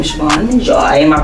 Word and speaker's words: Shavon Majoi: first of all in yourself your name is Shan Joy am I pronouncing that correct yes so I am shoban Joy um I am an actress singer songwriter um